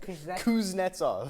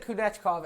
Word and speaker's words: Kuznetsov: Kuznetsov. I said Kunechkov, and it's Kuznetsov.